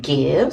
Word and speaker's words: GXVE: And it's, show you how it looks like, and it's pronounced Give, so it's Give Beauty.